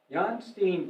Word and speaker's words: Jan Steen: the painter jan steen i pronounce it american pronunciation i understand john steen visited their house and